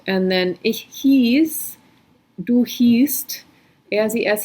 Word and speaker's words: hieß: So IE is E, hieß, and EI is I, like Einstein.